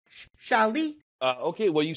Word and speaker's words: Shuail: So can you pronounce it correctly for me? I'll try. Okay. Shuail.